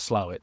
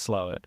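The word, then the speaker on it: Slaithwaite: which pronunciation Wise It's spelled SLA weight but pronounced slait well I've learned something new yeah exactly if there's any one thing that you get out of this episode is that SLA weight is pronounced slow they have a moon ring Festival essentially a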